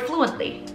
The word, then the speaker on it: fluently: Like the word fluently. I stress in the syllable flu, right?